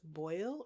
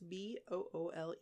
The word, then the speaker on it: Boole: Now, I don't know if it's Boyle or Boole. It's Boole.